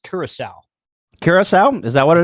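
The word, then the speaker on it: Curaçao: Caraco. No, I got it. I think Caraco. that's pronounced Curacao.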